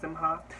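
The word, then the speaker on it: Simkhai: designer called jonathan simha i'm pretty sure it's pronounced simha anyway it gave me like old hollywood um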